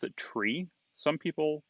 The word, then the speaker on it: trie: But the word actually comes from the middle of the word retrieval, and which is pronounced retrieval.